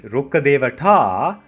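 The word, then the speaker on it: Rukkadevata: If I slow it down, you can say it as Rkkadevata.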